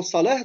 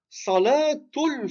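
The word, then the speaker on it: صلاة: Il s'arrête sur le mot salah, donc il le prononce avec la soukoun. Et nous, quand on dit, j'ai fait salatul fajr. Salatul fajr. Donc, le thème al-bouta, ici, on le prononce comme un T parce qu'on continue.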